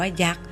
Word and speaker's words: ยักษ์: อ่าน จะ อ่าน ว่า ยักษ์ โดย ไม่ ออก เสียง ตัว การันต์ ค่ะ เรา มาเรียน รู้